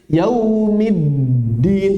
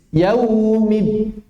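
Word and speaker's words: يَوْمِ الدِّين: Banyak yang mengucapkan dal ketika tasydid mengalir. Yaumiddin, min-din. Tidak. Dia terputus. Yaumiddin. Harus diputus.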